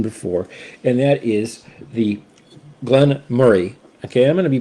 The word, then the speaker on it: Glen Moray: uh Scottish Folk do Glenn Moray not Moray okay uh Glenn Murray it's like you're saying the word Murray but you just kind of put a little bit more more into that Glenn Murray um and they make